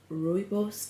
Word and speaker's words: rooibos: eat so so good i've got rooibos tea that's how you pronounce it and some water as